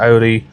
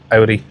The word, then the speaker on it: Audi: had customers come to Audi or Audi, however one way you want to pronounce it. I've always pronounced it Audi. In England, everyone pronounces it Audi.